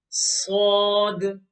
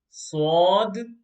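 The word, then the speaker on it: صاد: Okay, so these two letters, Sod and Dod, they're both pronounced with a full mouth.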